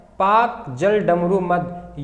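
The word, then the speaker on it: Palk: ये पाक पाकिस्तान वाला नहीं है, ये पाक एक व्यक्ति का नाम था, ब्रिटिश काल में भारत आया था, ये पाल, तो इसका एल हो जाता है साइलेंट, तो कर देता है पाक, पाक जल डमरू मध्य।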